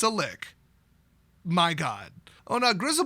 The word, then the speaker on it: lich: is in there now I would pronounce it Lich but a professional full-time live stream presenter who works at a fantasy gaming company black Rasmussen said that it's a lick so it's not a lich it's a lick my